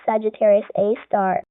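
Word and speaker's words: Sagittarius A*: And I believe this is scientists call it Sagittarius A, pronounced Sagittarius A star.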